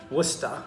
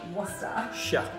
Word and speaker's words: Worcestershire: Worcester. Worcester. Think of rooster. Rooster. Rooster. Rooster. Worcester. Worcester. Shire. Shire. Worcestershire.